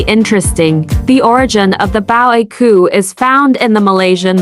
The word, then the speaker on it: Á Bao A Qu: by the name of bao aku is generally accepted as being pronounced a bangaku which means my elder